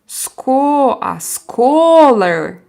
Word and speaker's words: scholar: Scholar. Like open your mouth and say ah. So scholar. Like this. Ska.